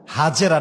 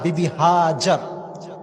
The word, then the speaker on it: হাজেরা: হাজেরা না বিবি হাজার? বলেন আমার সঙ্গে, বিবি আমরা বলি বিবি হাজেরা, এটা না, এর মূল প্রোনাউন্সিয়েশনটা হচ্ছে বিবি হাজার।